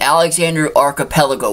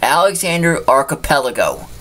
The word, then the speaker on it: Alexander Archipelago: to pronounce, but I'm going to correct you on that. Shadow species is an Alexander Archipelago wolf. I'm going to say it one more time. Alexander Archipelago. Archipelago. Shadow species is an Alexander Archipelago wolf, native to only